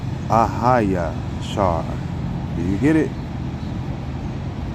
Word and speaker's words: AHAYA: okay but we say ahaya because the ah is a yah but we don't pronounce the yah when it's in the front of the words all right it's it's